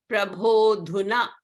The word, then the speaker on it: Prabhodhuna: So here, O is followed by A. So again, A is elided and it is not pronounced. Prabhodhuna, Prabhodhuna, O Lord, now.